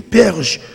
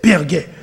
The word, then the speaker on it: Perge: allé du côté de Perguet, ou bien Perge, et j'en écrit en français, mais il était surtout prononcé Perguet.